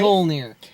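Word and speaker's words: Mjölnir: Can I just say, that shield must be like Thor's hammer, whose name I cannot pronounce to save my life. Mjolnir. Right, Mjolnir.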